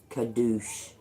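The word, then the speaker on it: קדוש: for the the old ask cannot a s k e n a z i pronunciation of the Hebrew word for holy is kadouch kadouch I used to say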